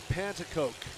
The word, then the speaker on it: Pantacoke: Jason Pantacoke is how you pronounce it.